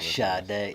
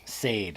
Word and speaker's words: Sade: I don't know who Shade. That's how Yeah. Sade I think is the most mispronounced.